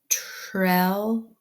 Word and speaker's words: trellis: There is an L or consonant after the vowel. So it's closed, makes a short E sound. Take away my blocker. I see that there is a consonant after the S, makes it a closed vowel. And so that makes a short I sound. And then I can read the word, and it says trellis, trellis.